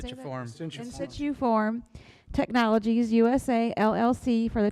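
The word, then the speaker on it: Insituform: In situ form Technologies USA LLC for the 2023 I&I reduction project.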